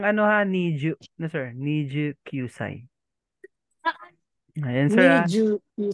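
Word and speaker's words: 二十九歳: Yung pagbigkas, sir, ng ano ha, Niju. No, sir. Niju Kyusai.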